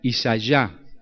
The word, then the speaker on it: Isaías: En hebreo se pronunciaría Isayá, ya de Yahvé, de Jehová, salvación de Dios.